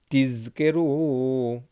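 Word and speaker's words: תזכרו: Lema'an tizkeru. Z. Make sure you pronounce the Z, the Zayin.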